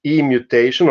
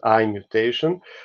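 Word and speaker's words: i-mutation: itself sorry uh yes you write e mutation uh in pronunciation it's e because it was the sound e I also would like to pronounce it I but then some older professors look at me and say oh so e mutation or we can call it among ourselves IM mutation uh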